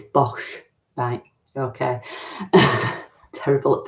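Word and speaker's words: Boch: Bosh yeah but box oh it's yeah it's Bosch bang okay terrible at pronunciations honesty product and rubbish rubbish so yeah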